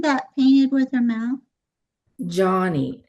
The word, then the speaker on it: Joni: Johnny, Joni, and she pronounced it Johnny.